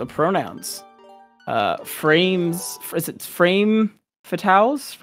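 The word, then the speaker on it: Frame Fatales: had earlier about pronouns uh frames is it frame fatals right I feel like I always say it wrong yeah it's frame fatals but the uh the specific event in August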